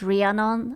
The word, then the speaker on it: Rhiannon: I don't like this person because their name is Rhiannon and it rhymes with Trianon, and as a Hungarian I find it problematic.